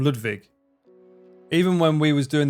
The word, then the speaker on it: Ludwig: I still pronounce his name Ludwig.